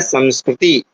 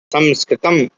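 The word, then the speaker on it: संस्कृतम्: संस्कृतम संस्कार है ना इसको मा ही उच्चारण करना चाहिए ऐसा बोला जाता है क्योंकि मा उच्चारण क्यों करना चाहिए क्योंकि यह जो मा है वह क्या है सम उपसर्ग का मा इसलिए कई लोग संस्कृत बोलते थोड़ा सा अशुद्ध है क्या है संस्कृत म है ना म थोड़ी ना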